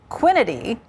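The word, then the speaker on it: Qnity: Apparently, it's pronounced quinity.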